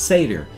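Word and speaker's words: Sayter: It looks to us like a Seder, or for short, he will go by Seder, S-A-Y-T-E-R. But for us, it's just pronounced Seder.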